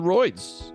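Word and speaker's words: Royds: apple music Spotify uh and you search the roids and I mean if you found this you know how it's spelled so it's Ro yds you idiot idiot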